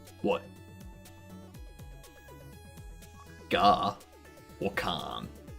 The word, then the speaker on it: Garkin: Gar or Khan? Because if I was to pronounce your name how I think it should be pronounced, it would be Garkin. As in gherkin. But Gar. Gherkin, Garkin, gherkin.